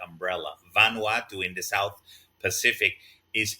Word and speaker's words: Vanuatu: other countries smaller than the Philippines uh specifically Vanuatu vanu ATU I'm sure many many of you